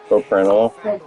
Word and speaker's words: Propranolol: pronounce that medication that you love to give me for anxiety? Propranolol.